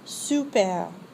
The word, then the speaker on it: super: The vowel sound represented by the letter U does not exist in English. To say super, first say the French word si, then round your lips as if to whistle and say si with rounded lips. Now say super.